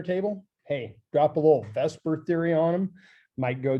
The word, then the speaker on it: VSEPR: has a real fancy name and it's it's Vesper I know it's spelled the supper but it's generally referred to in chemical chemistry worlds as Vesper and that stands for